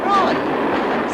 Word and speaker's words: Froy: Froy. Sorry, I can't hear. It rhymes with joy.